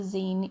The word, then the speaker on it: zine: how to say it it's called a zine even though i'd call it a sign but that's just because i'm british so once again um